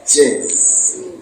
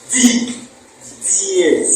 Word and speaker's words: dièse: Dièse, c'est dièse et non pas jazz. On appelle ça tu prononces bien les chevaux. Dièse. Aïna jazz. Quand on prononce jazz, on dit que jazz. S'il fallait qu'on prononce jazz, on devait ajouter G là-bas.